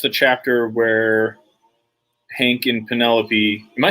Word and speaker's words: Penelope: it, or read it, I thought it was Penelope because Greeks pronounce shit weird. And then I was talking to somebody about it, and they're like, "Who the fuck is Penelope? Do you mean Penelope?" I'm like, oh, yeah, that actually makes a little more sense.